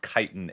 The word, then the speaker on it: Kytin: Kitan sounds so much better. It does. Chitten. What the Who looked at a bug and was like, "Chitten." And this is definitely pronounced kiten age.